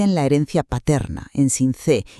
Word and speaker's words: Sincé: Hay que pronunciar bien las palabras, es Sincé, con acento en la e, y se pronuncia Sabanas, con s, no Sincelejo ni Sabanas.